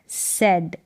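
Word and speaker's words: said: forgot फिर है ही सेड क्या है ही सेड यहां पर ए आई का उच्चारण ए करके होता है तो ही सेड वह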